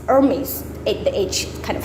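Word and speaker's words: Hermès: people might call it hermes or hermes but no you because it's a french so you want to spell you want to pronounce it in french so hermes hermes ate the age kind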